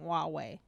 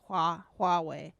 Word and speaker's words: Huawei: bringing that up yes they always pronounce it they just keep saying huawei so it just shows how like americans don't really understand chinese at all is you know they don't even say huawei yeah so i doubt